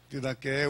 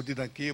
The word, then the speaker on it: Didaqué: Didaqué, outros pronunciam Didaquê, porque essa letra grega, ela tem as duas pronúncias, tem a pronúncia aberta e a pronúncia fechada.